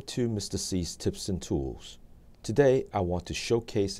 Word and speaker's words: TAWE: C's Tips and Tools. Today, I want to showcase an app perfect for a quick and easy presentation. The app is called TAWE. It is pronounced tool.